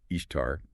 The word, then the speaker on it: Ishtar: Well, first, the pronunciation Ishtar, or Ishtar in Akkadian, is more like Ishpar.